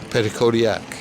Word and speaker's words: Petitcodiac: is the village of Petitcodiac. 2021 census, there were just shy of 1,500 residents here. Can you say it so I say it right? Petitcodiac. Okay, the emphasis at the end.